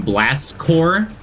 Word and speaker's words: Corps: So I pronounced it Blast Corpse all the time.